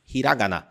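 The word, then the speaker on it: ひらがな: O primeiro deles é o hiragana. E ó, já toma cuidado para não falar hiragana, ok? Hiragana. Hiragana. Presta atenção na pronúncia.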